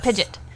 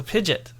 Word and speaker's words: Pidgeot: is it Pidgeotto no dang it Pidgeot Pidge pidet it is PID pidet or Pidgeot how do